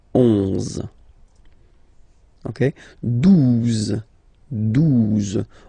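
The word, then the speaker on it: douze: phonetically, 11, okay, 12, 12, O, U, the two together will give you the sound OO, okay, and then Z, 12, 12, all right.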